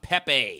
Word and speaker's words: Pepe: copyright infringement lawsuit involving a cartoon frog named Pepe you know it's a pppp pppp it's say